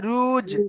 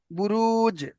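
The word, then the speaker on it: بروج: রুস নয়, রুজ। রুস। হ্যাঁ, জিম উচ্চারণ করতে হবে। রুস। বুরুজ।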